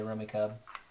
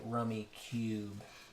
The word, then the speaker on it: Rummikub: different pronunciations of it some people say rummy cub is those people don't have any friends really definitely wants you to say rummy cube right give it to